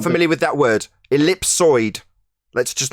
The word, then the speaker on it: ellipsoid: If you look up elliptoid, it says it's the mistaken pronunciation of ellipsoid.